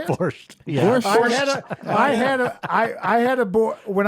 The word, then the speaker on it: borscht: Borscht.